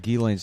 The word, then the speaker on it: Ghislaine: What I like about Ghislaine's name is the S is silent.